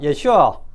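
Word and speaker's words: ישוע: 물리 어 물리기 좋아하는 발음으로 예수라 이름도 히브리어 발음으로는 예오수 예호수아 예슈아 어 이렇게 발음이 되죠.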